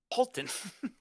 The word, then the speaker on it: Holton: Grace Holton. Like you say to someone, halt on.